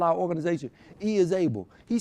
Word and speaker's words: Is-Able: We're going to call our organization E is Able. He said, whoa. He said, how we going to spell it? Everybody going to think it's Isabel.